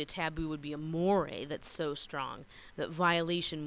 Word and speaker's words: mores: way a more a it looks like mores but it's pronounced more a those are norms with